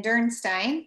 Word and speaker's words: Dürnstein: So the next day you were in Dürnstein. Is that yeah. how you pronounce it?